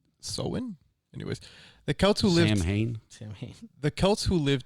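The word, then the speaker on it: Samhain: Back to the ancient Celtic Festival of samine pronounced soen anyways the Kel who Liv Sam the Kels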